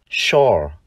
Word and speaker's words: sure: Nhưng trong tính từ chắc chắn, chữ S, chúng ta đọc là sh. Và từ này, chúng ta đọc là sure.